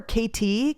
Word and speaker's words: Katy: It was the Missouri Kansas Texas and I think that's where KT came from. It's spelled K A T Y but like KT trail like Kansas Texas.